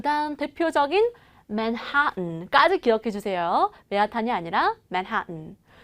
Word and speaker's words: Manhattan: 그 다음 대표적인 Manhattan까지 기억해 주세요.